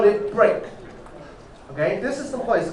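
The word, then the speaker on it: brk: not a dog okay we usually call it break okay this is the place called break why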